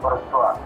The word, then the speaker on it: Bourgeois: Tulisannya Bourgeois, bacanya Bourgeois.